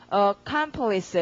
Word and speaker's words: accomplice: 강세가 두 번째에 있습니다. 그러니까 OS 스펠링 가면은 강세가 가면 발음 어떡합니까? accomplice 이렇게 되겠죠?